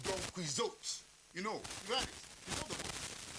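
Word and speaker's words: Don Quixote: normally pronounced Don quiz huh is normally pronounced Don quot you know you it you know the doniz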